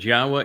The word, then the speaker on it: Yahowah: Ask yourself, why was I able to ascertain that Yahwa is the proper pronunciation of God's name and prove it?